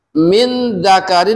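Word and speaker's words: مِن ذَكَرٍ: nun mati ketemu dzal Min dzakarin dibacanya menjadi tengah-tengah maksudnya suara yang disebut tengah-tengah ya harakat tanwin ya bertemu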